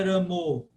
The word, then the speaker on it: Rama: Como a devota perguntou aí, é Rama ou é Ramo? Isso aí é uma variante contemporânea da Bengala. Mas no sânscrito é um som só, absoluto. Rama.